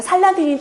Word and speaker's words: 살라딘: 빨리빨리 하니까 살라딘이라는 발음이 되죠.